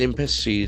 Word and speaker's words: embassy: 2 Israel embassy staffers killed in US. 2 Israel embassy, E-M-B-A-S-S-Y. So that is a very important noun. Embassy. Embassy, the accent falls on the first syllable, embassy.